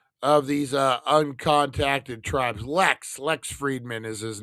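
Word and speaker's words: Fridman: All right, so I want to give a shout out to the Lex Friedman, Friedman is how you say it, podcast.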